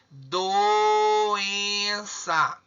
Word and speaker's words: doença: Qual que é o mais forte? É o em.